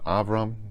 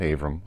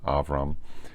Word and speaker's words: Avram: Story the gollum and that's the correct pronunciation of his name avram not Abram avram um and posted an